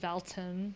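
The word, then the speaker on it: Val Town: I'm gonna pronounce it Valton, like Alton.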